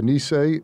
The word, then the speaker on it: Nisei: the deportations and putting these japanese americans of nisei am i pronouncing that right yes the nisei the which were the uh second generation that's